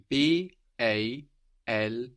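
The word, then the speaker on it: bald: BT belt is spelled b a l d a d on the end of the syllable in German is pronounced more like a t so b a l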